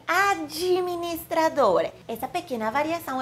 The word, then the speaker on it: administrador: Então, automaticamente suavizamos, colocando um i depois da letra D, e por isso pronunciamos administrador.